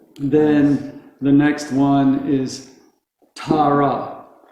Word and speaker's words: Tara: the next one is tara tara so they're also equal ta and rob it's not tara and it's not torah it's tara can you say that with